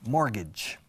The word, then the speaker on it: mortgage: Hipoteca, mortgage. Mortgage, mortgage. Se escribe mort, como mortadela o filamón. Mortgage, como gajes del oficio. Pero son 2 Gs, no hay J.